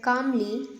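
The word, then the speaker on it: calmly: बोलता है the shopkeeper कामली lean and whisper यह कामली है इसमें एल साइलेंट है ओके तो क्या यहां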